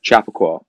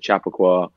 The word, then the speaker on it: Chappaqua: Wait, it's Chappaqua, not Chappaqua. I've been saying Chappaqua this whole time. It's not wrong. That's not wrong. Yeah, you can say it like that. A lot of Northerners are like Chappaqua.